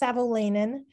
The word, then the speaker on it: Savolainen: It's Savolainen. Just like it's spelled, you just have to take your time with it.